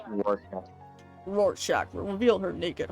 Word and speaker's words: Rorschach: It's pronounced Rorschach.